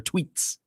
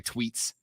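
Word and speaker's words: Twheats: here the tea wheats it's spelled t w h e a t s the t wheats but it's pronounced i'm sure tweets that's a beer right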